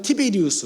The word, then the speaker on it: 티베리우스: 사실 디베리오 황제는 정확한 이름은 티베리우스 황제예요.